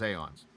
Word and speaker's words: Aeons: So I did say it right, it is Aeons. That A and the E were very close together, so I was like, I think that's Aeons?